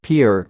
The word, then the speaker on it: Pierre: She kept saying Pierre 2 syllables, like the French name, and he kept replying Pierre 1 syllable.